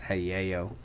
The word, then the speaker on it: Hayao: In Japan, A's are pronounced A. So I'm guessing it's Hayao.